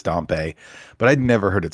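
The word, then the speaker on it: Dampé: I never knew I I said dampy until they released this new trailer and now apparently it is dumpe but I'd never heard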